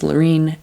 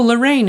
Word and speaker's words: Laureen: told people my name my name is laureen and then they're like oh lorraine and it's like no i didn't say my name wrong you don't have to